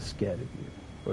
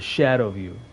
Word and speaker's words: Scadutree: is first this admire this is so the scared of you or the shadow of you that's the proper way to pronounce it first look at this